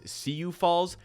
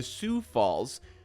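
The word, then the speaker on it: Sioux Falls: Falls Force hey gang not only did I just pronounce Sue Falls as cuu Falls I also refer to their gie team as the cuu Falls Force when in fact they are the Su Falls skyforce now I could have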